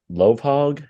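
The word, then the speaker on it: Lovhaug: Another guest you had on was Louis Lovehog.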